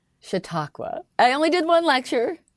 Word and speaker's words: Chautauqua: about this um you've been lecturing can you pronounce this for me chattawagua Chautauqua I only did one lecture to be fair